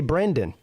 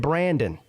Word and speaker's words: Brandon: I said it right that time. I didn't say Brendan. I said Brandon. Like you're supposed to. Like your name really is.